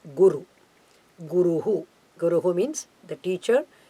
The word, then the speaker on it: guru: Either Guru or Brahaspati. Okay, I must correct these two words. The word is Gu-ru. Both are Hraswa short letters.